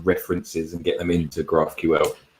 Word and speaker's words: GraphQL: and get some references and get them into graphql graphql yes that's what i was trying to say the graphql and then on the stream after that we